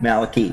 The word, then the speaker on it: Malachy: Just a little background to Malachy. Am I pronouncing that correct? Malachy. And Michelle. Malachy and Michelle. Malachy, yeah, Y on the end.